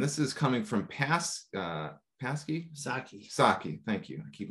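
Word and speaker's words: Psaki: Saki. Thank you. I keep mispronouncing it. Pasecki.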